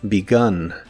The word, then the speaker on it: begun: En el pasado participio es begun. Aquí igual la E se pronuncia como I, pero la U se pronuncia como una A normal.